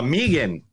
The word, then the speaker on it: M3GAN: do you pronounce it it's Megan but but I'm called name freaking because that's what it says M3 again is what you're going